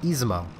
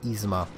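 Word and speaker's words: Izumo: just did it again it's easy mo I've just heard who's the mouse so long I keep calling it that but it's easy MA that is the only way it makes sense pronouncing it in Japanese we'll meet your cousin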